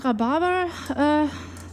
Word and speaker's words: Rhabarber: And Rhabarber, it kind of sounds a bit like the German name Barbara.